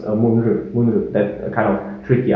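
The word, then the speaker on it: மூன்று: Then 3 is munre, munre, starting with an M sound as follows.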